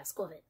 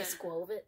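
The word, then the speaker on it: Squawkabilly: That's how you pronounce that? Yeah, Squivit. I've been doing it wrong. Did you say Squovit? I say Squovit.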